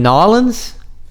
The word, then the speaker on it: N'awlins: in Nolans?